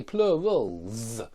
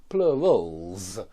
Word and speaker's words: plurals: When the preceding sound is voiced, that S becomes a voiced Z. And that's why we say plurals, plurals.